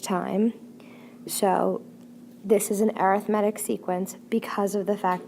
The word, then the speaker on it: arithmetic: focus on something called arithmetic sequences a lot of you guys are going to want to say arithmetic it's pronounced arithmetic sequence essentially what it is